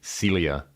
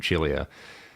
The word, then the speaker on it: Chilia: It is a Chilia, or you may have heard them called Celia. But I assure you that Charles pronounces his last name Chilia.